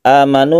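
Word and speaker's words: آمنوا: atau menjadi mad badal amanu ini dibaca satu Alif yang asalnya adalah amanu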